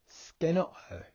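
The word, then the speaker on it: σκηνόω: You'll see that over the E is a horizontal line and over the last O is a horizontal line. That shows us that they are long vowel sounds.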